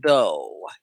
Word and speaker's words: though: correctly spelled like this though t-h-o-u-g-h you don't say vogue and you don't say duff because sometimes g-h like